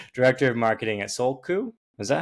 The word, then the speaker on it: Soulku: Uh Megan Gravit, director of marketing at Soul Coup.